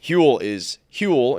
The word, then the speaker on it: Huel: meal, that is where Huel comes in. Huel, it's H-U-L-U, it's Huel is spelled H-U-E-L. It's fuel, but with an H, and it's today's sponsor of KFC Radio.